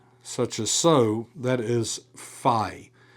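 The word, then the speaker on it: phi: as so that is fi has that ph sound like you would get at the start of phone. Uh so in other words it's really more of an f.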